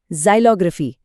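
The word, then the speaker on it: xylography: जाइलग्राफी। इसका उच्चारण है जाइलोग्राफी।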